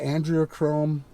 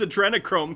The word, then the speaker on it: adrenochrome: scary world out there the andrea chrome i mean it's just he can't even pronounce adrenochrome correctly one of my next